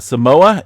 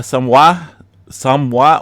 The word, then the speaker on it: Samoa: Yeah, Samoa or Samoa. A couple different pronunciations there. I've even in school, I was told Samoa, but a lot of the locals in the original traditional name Samoa there seen a 6.7 earthquake.